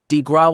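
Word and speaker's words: grâce: Bank The Killing below the coup de grace pronounced DeGraw was delivered upon the American people by Franklin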